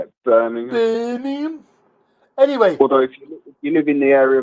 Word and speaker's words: Birmingham: eastern birmingham birmingham that's how you say it birmingham you live in the area of birmingham i